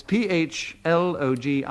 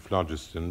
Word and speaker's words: phlogiston: I'd like to pronounce it phlogiston because that is the way I believe in which it was said in the olden days.